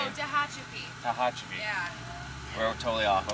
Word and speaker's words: Tehachapi: How do you pronounce the town name? Oh, Tehachapi.